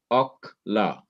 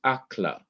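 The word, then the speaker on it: אָכְלָה: And so it is to be pronounced Okla, Okla, O-K-H, Ok, La, L-A-H, Okla, not Akla, not A-K-H-L-A-H, because this is a closed syllable. It is also a syllable that has no accent, and therefore it must have a short vowel.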